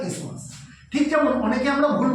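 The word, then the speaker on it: isthmus: এই যে শুরু হয়ে গেছে যে রিজনটা এটাকে বলে ইসমাস। বানানটা কিন্তু ইসথামাস। কিন্তু আমরা ইসথমাস বলব না। আমরা কি বলব? ইসমাস। স্পেলিংটা কি? আই এসটি এইচ এম ইউ এস। উচ্চারণটা কিন্তু ইসথামাস না উচ্চারণটা ইসমাস ঠিক যেমন অনেকে আমরা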